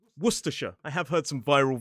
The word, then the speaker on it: Worcestershire: And I know this lesson would never be complete without me saying worsher.